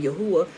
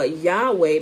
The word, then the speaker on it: Yahuwah: things you know but i'm not going to get on anybody because they're saying yahuwah i mean i mean uh yahweh because okay i get it i know who you're talking about right um they just don't understand the proper etymology of it and the proper pronunciation of it but if you go